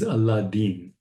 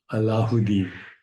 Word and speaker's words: Aladdin: In India, the Urdu pronunciation, which is the correct pronunciation or close to the correct pronunciation, is Aladdin, Aladdin, or Allahuddin.